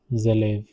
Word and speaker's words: élèves: This is pronounced as élèves. Les élèves placent les cahiers.